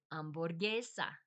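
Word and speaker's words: hamburguesa: language and um like hamburger borgesa. Borgesa. So the ham is a it's more of a silent letter.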